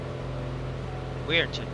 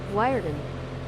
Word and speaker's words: Wiarton: I keep forgetting how to pronounce it though. Weirton. Wiarton.